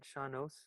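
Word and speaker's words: sean-nós: Shanos?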